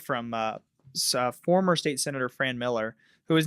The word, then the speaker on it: Miller: A lot of people say Millar. Millar? You got No, it right. It's Miller.